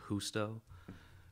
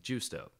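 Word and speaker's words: Justo: my name because my the jay in my name is housto and he kept like juicedo listen i'm like look everybody calls me and my name is pronounced housto it's like gusto i understand if you're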